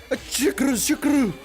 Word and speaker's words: Shuckle: Shukuru. It's a Japanese Godzilla reference, because in Japanese, for them to pronounce an L sound, they do RU, which is ru, which kind of sounds like an L.